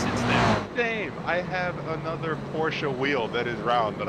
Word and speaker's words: Porsche: true Porsche thank you I appreciate it it's pronounced Porsche you uncultured swine I love the actual